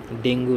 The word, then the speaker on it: ডেঙ্গি: সব রক্তের মাধ্যমে ছড়ায় ডেঙ্গু ডিঙ্গু ফিভার রোগের কারণ ডেঙ্গু প্রকৃত উচ্চারণ ডেঙ্গি একটি ভাইরাস ঘটিত রোগ